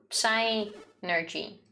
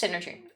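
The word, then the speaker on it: Psynergy: i use synergy so psy energy no like no it's synergy people keep arguing about this uh evie for example says that the p is silent so it's like synergy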